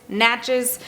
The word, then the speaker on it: Natchez: It rhymes with matches. Natches.